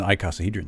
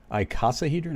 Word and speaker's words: icosahedron: that shabby that's a way cooler word than icosahedron too yeah well you didn't say it properly but i'm not gonna well what's the proper way i say that one all the time i casa i casahedron all right yep so i call got it